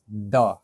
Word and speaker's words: the: इसके आगे अगर टी एच ई प्रोनाउंस करेंगे तो हम लोग क्या प्रोनाउंस करेंगे इसको? द।